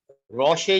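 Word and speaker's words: rochet: रोशे, रोशे ये है, इसमें टी साइलेंट है, कोट या गाउन जो ऊपर से पहना जाता है।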